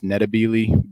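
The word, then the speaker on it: Ndebele: pronunciation I think that the technical like the the native African pronunciation is neab but the the kind of angelized version is matab doesn't really matter um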